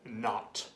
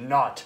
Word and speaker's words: knot: and spell the word not k-n-o-t not spell the K say it like it's not there not it's not the